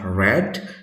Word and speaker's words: read: tuh kesatunya adalah read keduanya adalah red ketiganya sama red juga walaupun penulisannya sama tapi pengucapannya berbeda ini we met nah